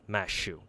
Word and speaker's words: Mashu: th sound so uh the best they can do is just replace it with an s St so instead of Matthew they had to pronounce it mashu so I think uh